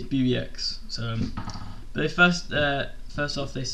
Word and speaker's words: BBX: But that's going to be called BBX, and it's spelled BBX, and it's said like that, not BB10 like Roman numerals.